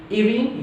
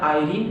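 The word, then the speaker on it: Irene: सोम्स Forsyte की wife है इरीन या आयरीन, दोनों प्रोनाउंसिएशन ठीक होंगे, इरीन या आयरीन हीरोन फॉरसाइट।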